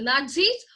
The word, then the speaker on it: Nazis: Nazis just like pizza though the spelling is P eyes and said a it is pronounced as pizza in the same way